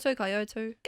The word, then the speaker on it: Kyoto: Is that how you pronounce it? Kyoto. Kyoto, yes.